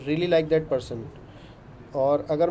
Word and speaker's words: Paris: ठीक है, फ्रांस में इसको पेरिस बोलते होंगे मे बी। तो ऐसे करके जैसे हाँ पेरी बोलते हैं उसको, इस तरह बोलते हैं। हाँ परी, परी In Paris, they pronounce it पारी।